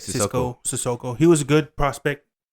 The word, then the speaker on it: Sissoko: Sissoko? Yeah, Sissoko. Yeah, that's how you say it. Sissoko.